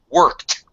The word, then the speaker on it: worked: It's like when the verb ends with a voiceless sound, the ed is pronounced as a t. So worked.